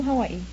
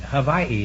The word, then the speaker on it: Hawaii: I was born in Kalihi in Honolulu, Hawaii. I'm all right. How are you? But we always say that if anybody says Hawaii, Havaii is the correct pronunciation.